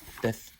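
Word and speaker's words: ث: Tha, with the tip of the tongue touching the edge of thanaya ulya.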